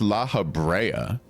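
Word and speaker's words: Lahabrea: And by the way, I was calling that guy Laabria. I think it's pronounced Laahabraa what I heard the other day.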